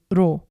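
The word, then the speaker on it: rho: The next letter is ro. Ro kind of looks like a P, but it's pronounced like an R, as in the word ron.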